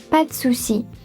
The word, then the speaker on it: pas de souci: Pas de souci. Pas de souci. French people rarely say pas. Usually drop the E of the and say pas de souci.